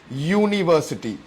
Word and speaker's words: university: the correct pronunciation is university. So അത് ശരിക്കും നമ്മൾ ശ്രദ്ധിച്ച് കേൾക്കുകയാണെങ്കിൽ it sounds like it's starting with a Y, university.